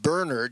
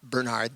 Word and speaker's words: Bernard: let me know that it's pronounced Bernard not Bernard the English way so I'll be saying